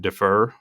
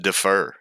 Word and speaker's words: differ: you said the way people think about it might differ, but you pronounce it defer. Oh, I think that's the Alabama version of it. I thought it was French. I'm emphasizing the wrong syllable.